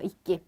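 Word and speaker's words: いっき: 이끼. 자, 이끼는 뭐냐면 요 키고 이찌 발음이 이렇게 이끼 세게 들어간 건데 요건 요대로 그냥 알아두시면 돼요.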